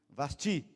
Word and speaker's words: Vasti: Professor de português é Vaste ou Vasti? Vasti. Sílaba tônica.